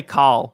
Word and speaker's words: Kyle: Some people say Cal, like C-A-L, like Cal. Oh, really? Yeah, but that's just more of an accent thing. Yeah, than like a southern accent type of shit.